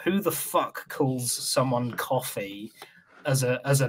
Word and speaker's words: Coffey: It's not a mispronunciation of Kofi, like Kofi, like the wrestler. It is. Coffee like John Coffee from Green Mile, like the drink, but spelled differently.